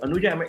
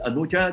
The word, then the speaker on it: Anuja: Anuja, is your, we learned the pronunciation of your organization, but is Anuja the right pronunciation of your?